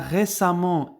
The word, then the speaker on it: récemment: forme amant bruyant bruyamment fait attention à la prononciation car récemment et bruyamment on les prononce de la même